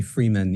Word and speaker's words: Fryman: Fryman thank you my my name throws everybody off it's actually Freeman even though it's spelled Fryman so I'm I'm fairly